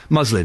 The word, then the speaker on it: muslin: uh uh muslin cloth muslin that's how you pronounce it isn't it doesn't have a Muslim cloth they have a muslin cloth that they they discretely